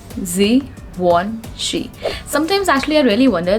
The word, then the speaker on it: Givenchy: Now this is again a French brand, and it deals into luxury perfumes, and the correct pronunciation of this word is Givenchy. Givenchy. It's not at all Givenchy, guys. It's Givenchy.